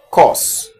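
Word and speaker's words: course: And then C-O-U-R-S-E is equally pronounced as cause.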